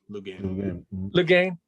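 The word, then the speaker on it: Loughnane: And I heard that and just like, oh my God, how does Lee Lufname, is that how you say his name? Lufname? Lugain.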